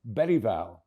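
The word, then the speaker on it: Bergvall: made it crystal clear with the difference of the letter G in Swedish, the proper way to say his second name is Berval, as in the late Sven Uran Erikson, Urine written begins with a G.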